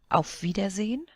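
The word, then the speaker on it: Auf Wiedersehen: A vidazine of vidazine. And it's pronounced almost as if there wasn't an e at the end.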